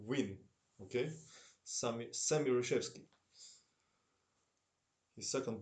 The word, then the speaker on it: Nguyen: Nguyen is pronounced Win.